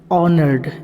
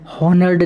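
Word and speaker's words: honoured: उसके बाद सम्मानित, ऑनर्ड, इसको ओ से पढ़ा जाता है, एज का एज यहाँ पे साइलेंट रहता है, हॉनर्ड नहीं पढ़ेंगे, ऑनर्ड।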